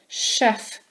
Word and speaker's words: chef: Faites attention, chef c'est un mot que les Anglais ont volé du français. C'est un mot français. Alors on le prononce avec bien ch, chef, parce que c'est un mot français.